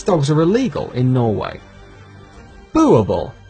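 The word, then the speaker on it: Boerboel: are illegal in Norway Buble pronounced bu ball is a Dutch Africans word for Farmer dog this breed was created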